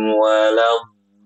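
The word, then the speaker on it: وَلَا الضَّالِّينَ: Waladdallin. Nah, gitu ya, Bu ya. Jadi bo-nya tuh panjang.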